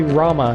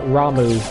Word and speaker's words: Rama: care what you say it's definitely Rama not Ramu this is America we